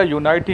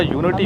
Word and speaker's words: unity: بیٹا یونائٹی نہیں ہوتا، یونٹی ہوتا ہے، اور پٹھانی نہیں ہوتا، پٹھان ہوتا ہے.